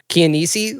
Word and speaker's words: Chianese: Chianese.